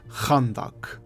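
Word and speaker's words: خندق: conduct and its Origins the name conduct is actually an Arabic word pronounced more like khandak which is the Battle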